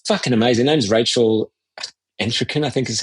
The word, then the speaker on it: Entrekin: Her name's Rachel Entrekin, I think is how you pronounce her last name. Let me get that right. Yeah. But she's incredible. Entrekin, yeah, because I was just reading about her.